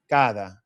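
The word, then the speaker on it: cada: So, we kind of we we can see the D, but when we pronounce it, it's not going to be a hard D sound. It's not gonna be kada. Kada. It's gonna be kada. Real smooth. Suave.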